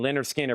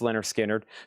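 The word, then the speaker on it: Lynyrd Skynyrd: Humble Pie Rock on VG plus 14.99 and Leonard Skinner. Pronounced Leonard Skinnard to be a simple kind of man.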